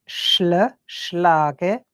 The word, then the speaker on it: schlage: Ich schlage, like lag, but it's like an I at the end, schlage.